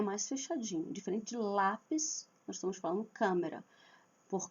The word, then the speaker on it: lápis: Lápis. Marca tônica na letra a.